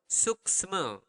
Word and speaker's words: suksma: It's suksema. Okay? Slower. Suksma.